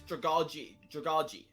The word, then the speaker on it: Dragalge: I think it's Dragalge. So like the last syllable is like J-E-E is how you want to pronounce it.